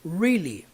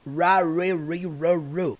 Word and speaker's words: really: no seu caderno hein qualquer palavra que se inicia com R vai ter aquele som do R caipira sabe really really é igual a cor